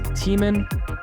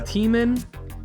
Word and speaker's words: Tman: So I'm very excited to have on the show Tman, right? Is that the right way to say it? Yeah, that's right. Tman, Psybernautics.